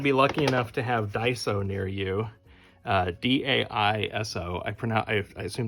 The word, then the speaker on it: Daiso: If you happen to be lucky enough to have Daiso near you, D-A-I-S-O, I assume that's how it's pronounced, Daiso.